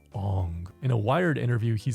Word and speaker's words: Aang: movie deeper in reality, since Ong is supposedly how actual Asians would say it.